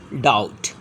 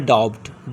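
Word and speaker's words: doubt: example D ओ बी T after T के पहले यहां भी आ रहा है तो this is डाउट नॉट डब्ड डाउट B silent date day debtor डाउटफुल okay settle next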